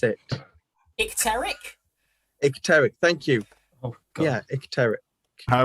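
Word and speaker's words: icteric: there is it and it could i can't pronounce it exteric thank you oh yeah i was better i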